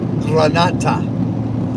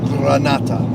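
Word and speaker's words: granita: America it would look like Granite but it's pronounced Granata even though there's no a there's NE Granada Granata I can't roll my RS anyway um yeah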